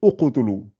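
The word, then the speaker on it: اقتلوا: Le ta, pour le verbe ici, ça se conjugue avec le ou. Donc, et quand vous commencez par ici, vous allez uqtulu, uqtulu Youssouf.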